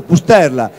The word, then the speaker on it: Pusterla: Sì, l'argomento è appunto l'Alzheimer, e il nostro Antonio, bravissimo Antonio Liberti, un momento fa mi ha chiesto com'è l'accento sulla E, e io gli ho detto Pusterla.